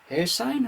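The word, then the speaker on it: Hairsine: we also have uh Trevor air sign I hope I'm pronouncing that right it's h a i r s i n e you chose to pronounce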